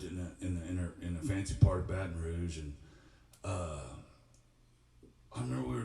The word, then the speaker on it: Baton Rouge: There's no T in Baton Rouge.